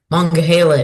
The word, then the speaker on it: Monongahela: Monongahela is pronounced by Monongahela by some people, but it's called Mong by others, and it's about manga by others.